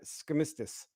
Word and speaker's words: Skistimas: It would rhyme with Christmas. It's Skistimas.